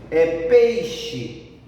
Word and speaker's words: peixe: O som mais forte é no pei, então é uma paroxítona, porque é na penúltima sílaba.